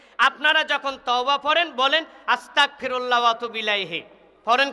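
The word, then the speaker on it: أستغفر الله: আস্তাগফিরুল্লাহ।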